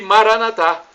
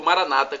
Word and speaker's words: Maranata: E Maranatá, como dizemos nós católicos, ou Maranata, como dizem nossos irmãos separados, os evangélicos ou protestantes. Não importa a pronúncia, somos todos irmãos e cristãos.